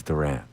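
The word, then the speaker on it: Durán: Bill Bill's pro promo that caused us to look closer at the pronunciation of Johan Duran. Duran. Duran. Yes. But he actually says Duran.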